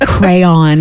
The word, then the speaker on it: crayon: I'm like, hand me that red crown over there. And there was somebody on the show that was like, you're an idiot, and it's pronounced crayon. It's not crown.